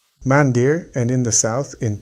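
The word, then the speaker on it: मंदिर: The very name of the temple in the tradition of Sanatana Dharma is pronounced as 'mándir.' Mandir, and in the south, in Tamil, it is called 'kovil.'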